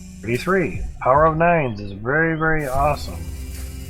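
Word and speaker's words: nein: Power of 9s is very, very awesome. Wrong way. Power of 9s? Yeah. Power of nose. Nose. It's pronounced 9 in German. N-E-I-N, 9.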